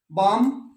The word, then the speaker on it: balm: अब आ जाइए silent L, बॉम, गरम वो लगाते हैं तो ले साउंड नहीं बोले, BALM, पाम, हथेली, PALM, टोक।